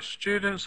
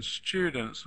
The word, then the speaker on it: students: Which syllable is stressed? We've got 2 syllables and we have to choose one. do you hear students or students? No. First syllable, students.